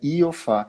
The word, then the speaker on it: Iofá: consigo entender é a então pronúncia é iofá eu acho que tu ti tá pensando no sofá o fala outra coisa